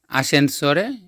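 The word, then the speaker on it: ascensore: ওটা হচ্ছে স্কালে মবিলে আসেনসরে লিফট এই উচ্চারণটা একটু খেয়াল রাখতে হবে। এখানে এস এচই এ আছে সেজন্য আসেন সরে হবে।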